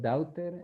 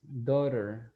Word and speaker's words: daughter: you is in pronunciation for example daughter my daughter instead of doubter is daughter my daughter my daughter